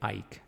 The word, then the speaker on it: Ike: of hurricane e um well actually I think it's pronounced Hurricane Ike actually because this is the